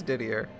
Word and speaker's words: Didier: Didier. It is diddier. It's three syllables.